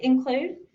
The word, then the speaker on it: include: The first syllable, in, has a consonant on the end and a short I sound. Make your mark for the short I. And that is a closed syllable. The second syllable, clued, has magic E on the end. So we're going to make a mark through the E because it's silent.